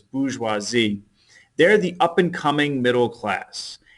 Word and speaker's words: bourgeoisie: teacher says the bourgeoisie if you want to spell it correctly but it's bourgeoisie they're the up-and-coming middle class and the Third